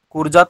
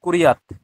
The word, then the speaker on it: কুর্যাৎ: কুরজাত নয়, কুরিয়াত। সংস্কৃত তো, কুরিয়াত।